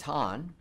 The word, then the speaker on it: Han: It's Han.